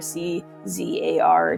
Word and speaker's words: tsar: spellings that are there, C-Z-A-R, T. Oh, I just put that again. T-Z-A-R should have been the other one. There, it's pronounced czar.